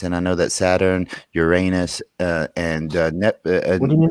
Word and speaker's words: Uranus: You can zoom in on all the various different planets: Saturn, Jupiter, Mars, Uranus, or Uranus is actually how it's supposed to be pronounced, but whatever.